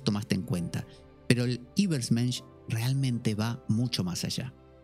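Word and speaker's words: Übermensch: es y me dice, pon la boca como un, para decir U y D I. I. Übersmensch. Übersmensch. Algo así.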